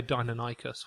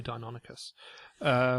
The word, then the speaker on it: Deinonychus: I mean, I say Deinonychus when it's apparently Deinonychus. it's both.